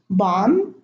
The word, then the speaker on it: bomb: So in these words, the B is not pronounced. I'm going to read them again. Thumb, bomb, climb, comb, tomb, lamb, limb, womb, debt, plumber, plumbing.